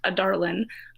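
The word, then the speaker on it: Adarlan: glass the main country i'm pretty sure it's pronounced a darling i remember the whole time i was like is it pronounced like outer lane a darling suddenly like a darling that's wow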